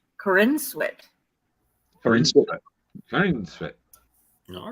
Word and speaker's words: Corenswet: know that's my opinion having just looked it up on how to pronounce his name um so they could know this it's Corinne sweat for instance all right